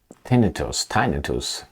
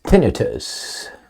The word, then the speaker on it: tinnitus: Thousands of people say they've been developing tinnitus, after they were vaccinated against COVID. You know what? How about I see how that's pronounced? That's a good idea. All right, it is tinnitus.